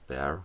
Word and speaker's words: Bexar: Es geht um das Bear von der Tactile Knife Company. Geschrieben wird es Bexar. Das X wird bei der Aussprache allerdings verschluckt oder ignoriert.